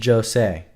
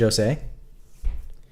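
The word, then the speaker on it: José: Pronounce the J in Jose as if it was the J and John. So it's Jose. You're saying it's Jose. Jose.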